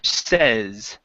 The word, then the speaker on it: says: Instead of saying says, give me a short E sound. Peter says. Peter says. Okay, yeah, so that's a short E sound on says here, okay?